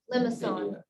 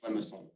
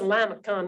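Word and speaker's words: limaçon: It's How do you say it? Limason. It's Limason. Limason? Limason. I'm from Tennessee. That's a Lamacon where I come from.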